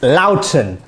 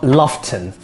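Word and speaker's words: Loughton: this is an essex loudoun not lofton unless it's loughborough anyway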